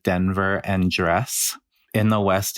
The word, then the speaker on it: Denver: reminds me of the Danver conversation which is some people say Danver and some people say Denver but that's such a